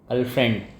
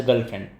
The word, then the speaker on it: girlfriend: Now here if you see properly there is I. We are not pronouncing I. Actually we are pronouncing E. Girlfriend. Even if you take out I from this still it will be pronounced as girlfriend.